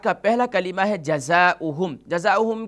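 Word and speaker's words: جزاؤهم: جزاؤہم کی ہجے کر لیتے ہیں. پہلا حرف جیم ہے, جیم پر زبر یعنی فتحہ کی علامت موجود ہے, تو اس کی ہجے اس طریقے سے ہوگی جیم زبر جا, ز الف زبر ز, جزا حمزہ پیش او, جزا او.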